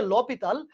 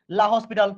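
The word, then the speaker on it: L'Hôpital: ভর্তি পরীক্ষা এগুলো আসলে আমরা কি করব, লাহপিটাল, এটা উচ্চারণ হচ্ছে লা, লপিটাল, লপিটাল, এটার আসল উচ্চারণ হচ্ছে লপিটাল, বলে আমরা এটাকে, আমরা এটাকে লা হসপিটাল সূত্র বলে চিনি, বুঝছো? এই যে বারবার বলতেছি লা হসপিটাল, এটা আসলে উচ্চারণ হচ্ছে লপিটাল, বাট আমরা এটাকে লা হসপিটাল নামেই ডাকি।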